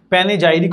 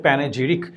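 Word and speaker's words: panegyric: প্যানেজাইরিক অনেকে বলে, বাট I prefer to pronounce it like প্যানেজিরিক।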